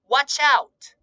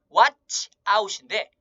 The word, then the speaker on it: watch out: watch out. watch out인데 연음이 되기 때문에 watch out. watch out. watch out이라고 발음하시면 됩니다.